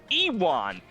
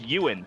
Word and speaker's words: Ewan: ewok because you know my brain he walked ewon and then my friend courtney went steven it's it's pronounced ewin i'm like you're lying to me and then